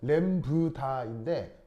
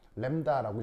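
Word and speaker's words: 람다: 그러니까 정확하게 다 읽으면 램브다인데 모음이 겹칠 경우에는 앞에게 발음이 약해 램다라고 읽으면 되죠.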